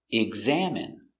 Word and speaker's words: examine: examining the patient pronunciation examine GG egg Z eggs eggs a EXA M exam exam it exam examine examine stress on the second syllable examine examine examine examine